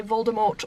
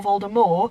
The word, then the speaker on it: Voldemort: looks, or even whether it's how you say Voldemort or Voldemort, because that's how they say it in the play, Voldemort, and I am not on board with that.